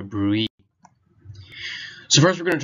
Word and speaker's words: BRUE: in EMS education, and that's the topic of the Brue, or sometimes people might pronounce the E and call it a Brue.